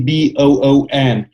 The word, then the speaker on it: Boon: And Agency Boon is a really U.S.-focused digital marketing agency. So the word Boon, you got it right. I mean, the root word, pronunciation-wise, sounds like good in Romanian.